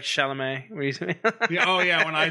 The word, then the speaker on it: Chalamet: uh salamat shalom shalom that's how he pronounced it remember shalamat more like chalamet oh yeah when i